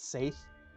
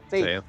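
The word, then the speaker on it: Saeth: I think it's Seth, or maybe Seth. Hold on. It's not good either way. I have. Oops. Wrong page. Where is my pronunciation guide? It says it's Scythe.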